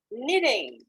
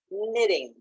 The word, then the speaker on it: knitting: they are shocked okay knitting and pay attention to the pronunciation knitting the k the initial k is silent knitting is a verb that